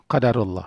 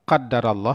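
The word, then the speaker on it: قدر الله: dibaca ketika itu Ah ini bacanya qadarullah hai hai Hai bisa dibaca qadarallah ini sesuai dengan hadis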